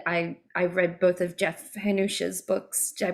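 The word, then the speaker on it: Hannusch: As a reader, I love music writing, and I read both of Jeff Hanush's books. Did I pronounce his last name correctly? Hanush, yes.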